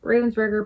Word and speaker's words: Ravensburger: So these are all Ravensburger puzzles, or Ravensburger.